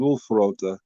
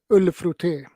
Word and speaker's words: Ullfrotté: I might be saying the name wrong, but I thought it was Ulfrota, or maybe it's Ulafrota. But but anyway, You mean ullfrotté? okay, I am saying it a little bit wrong.